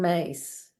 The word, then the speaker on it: Myss: And then Carolyn Mace. It's spelled MYSS.